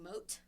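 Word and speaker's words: Mouat: company or muat muat I would guess it's pronounced like mo mo it's m o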